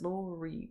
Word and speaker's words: Lori: let me introduce myself my name is Laurie pronounced with Ori I'm gonna stop doing